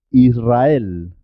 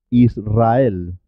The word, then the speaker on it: Israel: rumanía rudd doble también suena doble cuando la r va después de l n o s se escribe simple una sola r pero suena doble por ejemplo en alrededor